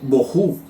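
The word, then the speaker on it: בֹהוּ: de strong 922 que significa la palabra se pronuncia en hebreo boho que significa va a cuidar o ruina entonces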